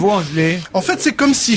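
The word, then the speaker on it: Voegele: Alors cette semaine, c'est Kate Vogele, ça s'écrit V-O-E dans l'eau, G-E-L-E. Alors, Veugelé, mais enfin, elle est américaine. Veugelé.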